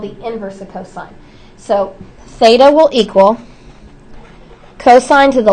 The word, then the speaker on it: theta: to write that down and this is um pronounced Theta it's a Greek symbol t h e t